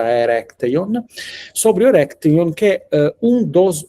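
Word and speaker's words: Erechtheion: dentro dessi quadro di eh architettura provincial, eu comecei a comecei a trabare in Atenas e come a trabionte na verdade pronuncia corretta erecteon sobre erecteon que um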